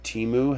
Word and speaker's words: Temu: I don't know how to invoke it, but Temu has been presenting me with actually, that's how you pronounce it.